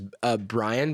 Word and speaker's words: Bryon: His name is Bryon, but it's spelled with an O.